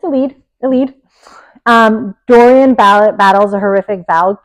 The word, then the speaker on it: Elide: paths with the mysterious, I forget how to pronounce her name. I say Elide. Elide, okay, Elide Loken. It's Elide.